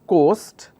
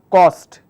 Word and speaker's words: coast: If you have a person who makes mistakes in terms of interchanging the pronunciation, he will say Vizag has a nice cost. So instead of saying coast, he will say cost. Now this is in terms of oral communication. So it will sound like, basically he wants to say coast, but he's pronouncing it as cost.